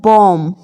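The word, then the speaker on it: bomb: रहा है तो हमेशा उसे केस में यह साइलेंट रहने वाला है इसको आपको ध्यान रखना है कैसे फॉर एग्जांपल बम बम यहां पर आप हमेशा इसको बम पढ़ते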